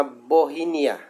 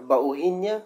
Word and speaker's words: Bauhinia: Yan po ay yung tinatawag na Bohinia. Okay, Bohinia. Hindi ko sure kung anong pronunciation na. Bauhinia, ganun. Bauhinia. Basta ganun, Bohinia.